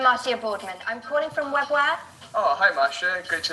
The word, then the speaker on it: Webware: ¿Qué es webware? ¿Cómo se pronuncia eso?